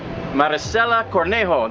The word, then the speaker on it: Maricela Cornejo: all right we're here with professional boxer maricela cornejo did i say it correctly he said it